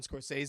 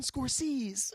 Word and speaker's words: Scorsese: a Galan AIS move he mispronounced when he says Martin Scorsese he mispronounces it yeah he's like Martin scors or something like that Zach is